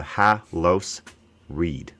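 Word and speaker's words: Haloscreed: the Google Cloud could there's an entire sea in there that you didn't pronounce silent SE correct silence SE excellent I love that yeah so it's Halo SE like the like the SC in sence Halo Halo seed yeah yeah cool sick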